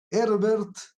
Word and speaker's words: Herbert: herbert simon en castellano en inglés se lo pronuncia simon herber así como se escribe con h herbert que un hombre alemán